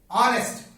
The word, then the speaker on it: honest: Honest begins with the letter H, which is not vowel letter, and H is silent here.